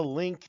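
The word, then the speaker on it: Linqto: his boy in Chicago anyway head over to link to to the offering and its terms past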